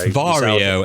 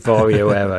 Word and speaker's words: Varjo Aero: So it's Varjo. It's Varjo Aero. Yeah, I knew it no matter what I said. According to a Varjo representative, that's how you pronounce it. Varjo Aero, yeah.